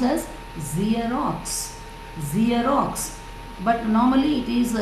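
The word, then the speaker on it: Xerox: we pronounce it as jerox zerox right am me right it's actually zerox z z it begins with z sound and next one is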